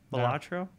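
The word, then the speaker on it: Balatro: case you haven't heard there's a game called batro have you heard of this Dre batro no is that really how you pronounce it yeah so batro is a hypnotically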